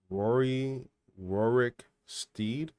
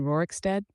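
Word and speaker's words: Rorikstead: and that's a pretty far walk from Rory Rooric Steed, if that's how you say it, to Karthpire. Oh, you sweet confused soul. Rory Rooricsteed. You mean Rooricstead?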